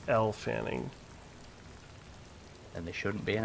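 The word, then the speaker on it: Elle Fanning: Her name is pronounced like the letter L." Yeah, it's L Fanning.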